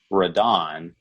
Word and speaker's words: Radon: called rodin and the original movie is actually pronounced uh radon which is r-a-d-o-n but they changed it for